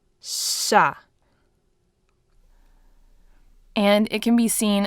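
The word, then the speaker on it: щ: This one here is sha. It's actually pronounced a little bit longer in length, and instead of your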